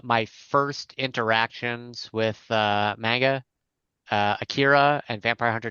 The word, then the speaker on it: manga: And Josh, I hate to be that guy that corrects you on pronunciations, but it's not manga, it's manga.